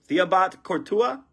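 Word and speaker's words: Thibaut Courtois: it how do you say his first name theobat cortua Christia o Silver Global reach prism there we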